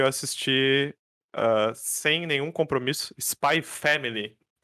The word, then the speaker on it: Spy x Family: assisti sem nenhum compromisso Spy Family ele se escreve spay x Family mas ele só se fala Spy Family Por algum motivo não